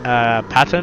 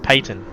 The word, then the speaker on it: Peyton: I was pronouncing his name wrong. Because I thought it was like Patton or Patton or something like that, and he goes, "Nope, it's Peyton."